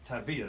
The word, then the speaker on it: Tavia: Tavia though. Yeah, Tavia. Emphasis on the V.